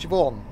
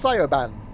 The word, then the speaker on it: Siobhan: yep i'll hello i use psiopan no it's shivon no it's not it's cyoban right doing the breaking thing into gallery